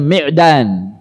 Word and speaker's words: Ma'dan: diantaranya dari Khalid Bin ma'dan ada yang bacanya Medan bahwasannya Abu Ubaidah ini